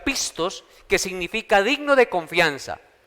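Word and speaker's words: πιστός: viene de una palabra griega que que se pronuncia pistos que significa digno de confianza Dios nos ha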